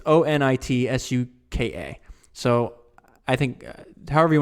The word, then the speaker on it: Onitsuka: It's Onitsuka. So I think, however you want to pronounce that.